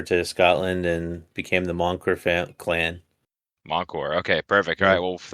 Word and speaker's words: Mancur: Because I know a little bit of French, but is it French like Moncour? it, it's actually Scottish, so it's like Oh, is it? Moncur.